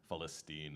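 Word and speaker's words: فلسطين: And, uh, just a note on the lyrics, Falstine is how you say Palestine in Arabic.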